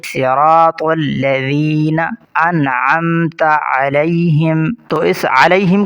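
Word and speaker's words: الذين: الذین۔ یہاں پر الذین، کچھ لوگ اس ذال کی جگہ زا پڑھتے ہیں الذین، یہ غلط ہے، ذال کو نرمی سے ادا کریں گے، صراط الذین انعمت علیہم، تو اس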